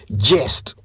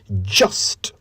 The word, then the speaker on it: just: Do you say just, or do you say jest, like I have been saying since I began? The correct pronunciation is just. Just.